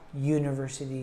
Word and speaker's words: university: But because of the way that the U sounds, it has the Y sound in the beginning of it. Instead of being a short U like umbrella, we have a U sound. So instead of saying an university, instead we say a university degree.